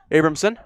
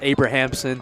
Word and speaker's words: Abrahamson: Second baseman, Abramson. We'll make the catch right around the second base. I believe it's pronounced Abrahamson.